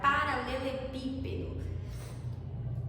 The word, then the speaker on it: paralelepípedo: Só que a mais forte dessa palavra é o pi, então é proparoxítona, certo?